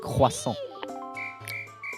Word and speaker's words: croissant: It's more of a croissant. It's actually croissant.